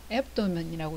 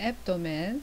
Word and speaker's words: abdomen: 배 부분은 abdomen, 앱도멘이라고 이야기하는 좀 익숙하지 않지만 좀 촌스럽게 발음을 해야 되는 다시 한번 들어볼까요? abdomen, 네네, 앱도멘.